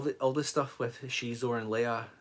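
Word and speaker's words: Xizor: some of the bits where um Shor it's pronounced Shor by the way not zor H Theory Shor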